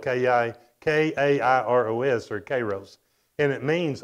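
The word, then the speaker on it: καιρός: was written in, the Greek word for that is spelled K-A-I-R-O-S or Kairos.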